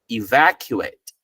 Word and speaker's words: evacuate: it's exactly the same which means the a t is pronounced the same way as eight okay so this is